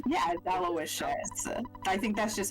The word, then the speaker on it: Aloysius: oh it's a real it's a real name and it Rhymes delicious okay good to know Gerardo